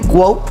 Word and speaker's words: GWOAT: Yeah, it's like GOAT, but W, GWOAT, yeah.